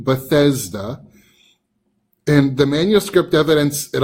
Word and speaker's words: Bethesda: of different ways however we do know that Bethesda is the proper way to write and pronounce the name of this pool and actually